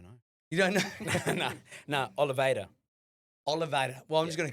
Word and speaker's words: Oliveira: No, Oliveira.